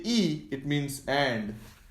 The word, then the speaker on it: y: II when I say e it means and I know it's written as Y but in Spanish this is pronounced as e English E and it means and